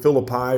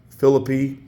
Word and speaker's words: Phillippi: Some people pronounce it Philippi or Phillippi.